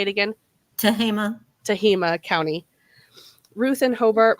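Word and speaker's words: Tehama: tahama sorry how do you say it again tahima tahima County Ruth and Hobart Molton have been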